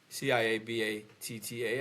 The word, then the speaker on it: ciabatta: Could you spell that? Ciabatta, I believe, and it's pronounced ciabatta.